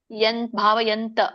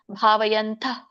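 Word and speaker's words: ಭಾವಯಂತಃ: ಬಿಟ್ಟುಬಿಡ್ತಾರೆ ಸ್ವಲ್ಪ ಉಚ್ಚಾರಣೆ ಇರು ಹ ಬಿಟ್ಟಬಿಡ್ತಾರೆ ಭಾವಯಂತ ಅಂತ ಹೇಳ್ತಾರೆ ಸೋ ನೀವು ಶ್ಲೋಕಗಳನ್ನ ಪಟಿಸ್ತಾ ಇದ್ರೆ ಭಾವಯಂತಹ ಅಂತ ಮಾತ್ರ ಹೇಳಿ ಸೋ ಪ್ರಾಕ್ಟಿಶನರ್ ಇದ್ರೆ ಭಾವಯಂತಹ ಅಂತ ಹೇಳಿ ಬಟ್ ಅದು ಎಕ್ಸಾಕ್ಟ್ಲಿ ಕರೆಕ್ಟ್ ಏನು ಅಂತಂದ್ರೆ ಅಲ್ಪ ಮಾತ್ರ ಹ ಉಚ್ಚಾರಣೆ ಮಾಡಬೇಕು ಯಂತಃ ಅಂತ ಬಾಲಸರ್ಪಸ್ಯ ಅದೇನು ಬಾಲಸರ್ಪ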